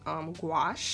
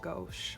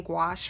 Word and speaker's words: gouache: go to artistic, and I like to use gouache. I've been pronouncing this wrong like my whole life. I used to call it gouache. Oh my gosh, don't make fun of me. I used to call it gouache, but I've been using gouache for my my